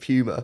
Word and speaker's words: Puma: pronunciation of pummer yeah that is how English people pronounce it that that's how the animal Puma is pronounced in in British English along with words like puny and puke which are pu yeah I actually saw